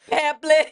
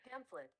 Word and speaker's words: pamphlet: Pamplet. I've never heard somebody pronounce it pamplet. Who the hell is calling? Girl, you a medical professional. Hold on. Hold on. Hold on. Pamphlet.